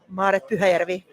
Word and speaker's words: Maaret: Uh with us is uh Marit. I hope I'm pronouncing it well. I won't try your last name because I know I'm going to mess it up. How do you say your name right? Marvi.